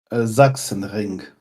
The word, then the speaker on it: Sachsenring: pronounce that, Felix? Sachsenring.